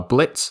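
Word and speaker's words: Blitzø: to worry about are Blitz the O is silent Moxie and Millie these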